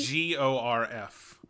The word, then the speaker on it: Gorf: You spell that G? G-O-R-F.